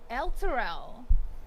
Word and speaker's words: Elturel: Luttrell. Luttrell. The locals call it Luttrell. Tourists call it Elturel.